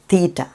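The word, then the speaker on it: θήτα: തീറ്റ, അതായത് അതിന് 'th' എന്ന ഉച്ചാരണം ഉണ്ട്. ഇവിടെ വരുന്നത് 'th' ശബ്ദമാണ് . 'ചിന്തിക്കുക' എന്നതിലെ 'th' പോലെ, തീറ്റ . അതാണ് തീറ്റ ശബ്ദം.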